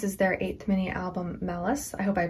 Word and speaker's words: MALUS: just double checked and it's more like malice like not malice but malice anyways here we go